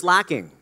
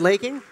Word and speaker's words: Laking: met earlier tonight lacking laking is it laking how do you say your name that's correct Philip Ranger and Michael